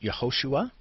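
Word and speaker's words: יְהוֹשֻׁעַ: There's the letters, pronunciation is Yehoshua, okay? And what it means is Jehovah saved, or Yehovah saved.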